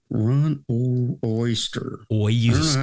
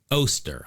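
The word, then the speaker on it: Oester: Ron Oyster. Say it properly. Oster. I'm I'm fairly certain that that is it.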